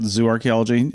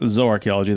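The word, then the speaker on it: zooarchaeology: It's really pronounced Zo when you say zoo archaeology. It's It's not zoo archaeology. It's not the archaeology of zoos. It's zo archaeology.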